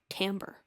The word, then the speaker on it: timbre: here's a plot twist this word is pronounced tamber tamber ber refers to